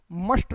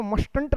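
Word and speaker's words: mustn't: मस्टंट ठीक है बच्चे यह टी साइलेंट बोला जाएगा जब हम मस्ट और नॉट को कॉन्ट्रक्शन में रखेंगे तो मस्टंट नहीं बोला जाएगा यह मसंट बोला जाएगा।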